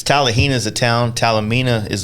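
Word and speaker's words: Talimena: tallahina yeah i always say it wrong it's tallahina is a town talamina is the parkway and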